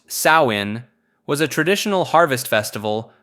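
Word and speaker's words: Samhain: Samhine, pronounced sawin, was a traditional harvest festival marking the end of summer and the beginning of winter in Celtic culture.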